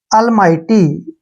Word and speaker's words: almighty: करना होता, वहां पर जी एच को छोड़ देते हैं, ठीक है। टी वाई को हमने टी पढ़ना है, ऐसे, अलमाइटी, ऐसे पढ़ेंगे इसको, अलमाइटी,